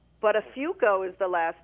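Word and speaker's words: Buttafuoco: It's Listen, it's pronounced butterfo. Uh, come again. Butterafo is the last name.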